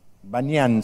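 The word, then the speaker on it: Banias: me olvidé el láser, Banyan se llama, es Pan-ñan, pero los árabes no pueden pronunciar la P, entonces ahora todo lo que tiene P se llama B larga, Banyan, allá arriba, ¿lo ven?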